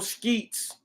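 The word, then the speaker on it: Scheetz: Jones upon arrival PPO Skeets I said I said sheets earlier but this guy's name is spelled listen this dude's name is spelled s-c-h-e-e-t-z skeets contacted Packard Kai or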